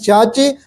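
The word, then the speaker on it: Xiaxi: i a x i that's pronunciation is chachi but the writing is casc x i a x i half tune proximal to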